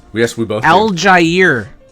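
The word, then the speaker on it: Allgeier: Al Jair. No, Did you know that? Al Jair? Yeah, Al Jair. That's how you say it?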